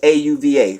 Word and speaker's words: Auva: Auva is A-U-V-A. I'm just pronouncing it as Auva, but you know, they